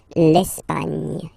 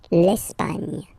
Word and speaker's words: Espagne: Okay, don't insist on the final E because basically it's not pronounced. L'Espagne. Gna, gna, gna. L'Espagne.